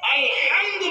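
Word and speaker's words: الحمد: আমরা যখন আলহামদু বলবো, আলহামদু এই এখান থেকে উচ্চারণ করব, এই গলার ভিতর থেকে আলহামদু, তখন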